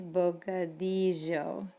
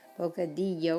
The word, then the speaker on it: bocadillo: word we talked about that double l sound it's bocadillo double l's make the same sound as like a y in english bocadillo or bocadillo and then think about